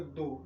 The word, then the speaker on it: though: यहां पर इसका हम प्रोनंसिएशन करेंगे दो मतलब टी एच ओ यू जी एच दो।